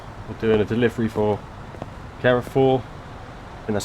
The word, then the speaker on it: Carrefour: We're also carrying, we're doing a delivery for Carrefour, and that's how you pronounce that, with the Swartz Muller trailer, so quite tidy really.